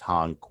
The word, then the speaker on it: HONC: Now, I'm going to say based on HONC, or sometimes it's pronounced honk 1, 2, 3, 4, like honk the horn.